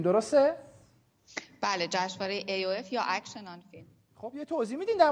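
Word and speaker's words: Action on Film: خب ما دلم میخواد که در خصوص این جشنواره اگر اشتباه نکنم و درست تلفظ بکنم اکشن آن فیلم، درسته؟ بله، جشنواره AOF یا اکشن آن فیلم.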